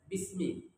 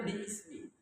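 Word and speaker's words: بسم: Lalu begitu digabung dengan ba itu dibaca bismi. Asalnya bismi. Hamzahnya dihapus karena dia hamzah wasol.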